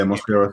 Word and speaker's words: Mosquera: Is that how I pronounce his name, by the way? Mosquera. Yeah, Mosquera.